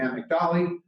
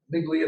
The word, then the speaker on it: amygdala: And what they discovered, that there's 2 lobes on either side of our brain called the amygdala, amygdala, depending upon your pronunciation preferences.